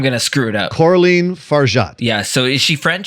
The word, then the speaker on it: Coralie Fargeat: Can you please pronounce her name correctly for me? Because I'm going to screw it up. Coralie Fargeat.